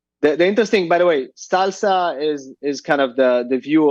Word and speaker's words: SLSA: And then for those listening, Salsa is SLSA. Yeah. Yeah. It just sounds like salsa, but it doesn't, not spelled like salsa.